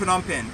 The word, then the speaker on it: Phnom Penh: Wait, how do you pronounce it? Phnom Penh.